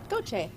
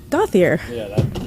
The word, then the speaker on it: Goche: Goche. Say that into the microphone. Goche. Goche. Goche. Gotcha. Goche. A lot of people often mispronounce my name and say Gothier.